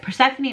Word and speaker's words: Persephone: So yeah, Persephone Ophelia.